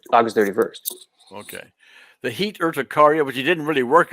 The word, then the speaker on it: urticaria: And so the urticaria. No, seriously, none of it for weeks, like since August, right. since the first August 31st. Okay. The heat urticaria, which you didn't really work on, seemed to have gone.